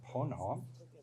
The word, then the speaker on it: Ponant: for the Northeast for Pono we don't pronounce the T and I don't speak